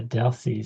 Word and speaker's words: Delcy: Uh, Deli, sorry if I mispronounced your name.